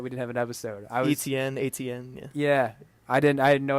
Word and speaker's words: Etienne: Etienne, yeah. Yeah, I had no idea how to pronounce it, but I learned it's Etienne, and he played really well.